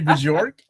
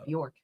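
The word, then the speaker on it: Björk: Like, I know my buddy Travis. York. Wow. York? York, yeah. York? Okay. Of course that's how you pronounce it.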